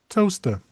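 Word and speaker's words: Towcester: So it is actually pronounced believe it or not toaster.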